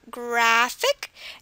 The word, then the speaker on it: graphic: And then, okay, the stress is not on the ick, I'm sorry. It's on the graph. It's on words ending in ick. So stress is on graphic.